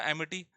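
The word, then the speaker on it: amity: वैसे AMIT को हिंदी में क्या पढ़ते हैं, अमित, अमिति तो होगा नहीं, है ना, ये तो क्या होगा, एमिटी, है ना।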